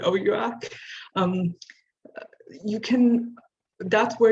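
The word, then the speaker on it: OUAC: accept on our o-u-a-c it seems like a lot of people pronounce it differently we were all told to call it oh yuak um you can that's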